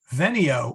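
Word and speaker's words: venio: here so be patient veneo with a short e is i come vainy with a long e is i came now fortunately the the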